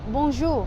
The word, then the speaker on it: Bonjour: kind of not because you're not technically pronouncing the end completely it's sort of like you're touching it but not like seeing it through so it's like boom